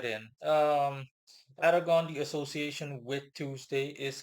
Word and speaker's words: Arragon: Um, I'm simply going to be pronouncing it like default English, Aragon, spelled Arragon.